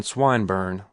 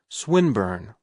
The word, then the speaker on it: Swinburne: swatted meant this man swineburn he began attempting to put his plan into execution and pronouncing the i long who swineburn he repeated with the same mispronunciation the poet swinburne she corrected yes that's the chap